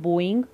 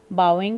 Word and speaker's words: bowing: APJ Abdul Kalam I ache positivity with kneeling and bowing please remember the pronunciation is not blowing it is bow bowing five times kneeling and